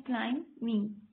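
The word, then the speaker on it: climbing: बी जो है वो साइलेंट लेटर है। हम इसे किस तरह से प्रोनाउंस करते हैं? क्लाइमिंग, क्लाइमिंग, क्लाइमिंग।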